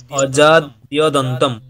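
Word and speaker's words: অজাদ্যদন্তম্: দেখো উচ্চারণটা হচ্ছে অজাদ্যদন্তম, অজাদ্যদন্তম। বলো অজাদ্যদন্তম। অজাদ্য, দেখো দুটো পদ ওখানে, অজাদ্যদন্তম, অজাদ্যদন্তম। এটাকে প্রথমে কেটে কেটে উচ্চারণ করবে, অজাদ্যদন্তম, অজাদ্যদন্তম, অজাদ্যদন্তম। যখন এটা মুখের মধ্যে বসে যাবে তখন আর স্পিডে উচ্চারণ করলে অটোমেটিক চলে আসবে, অজাদ্যদন্তম।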